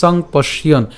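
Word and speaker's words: সম্পশ্যন্: তাহলে সংপশ্যন পর্যন্ত উচ্চারণ করলাম, ঠিক আছে, সংপশ্যন, সংপশ্যন।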